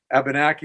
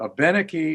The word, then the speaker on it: Abenaki: of saying it, but Abenaki is closer to the way we'd say it within the language, with the emphasis on the 3rd syllable from the end, which is the way we pronounce our words.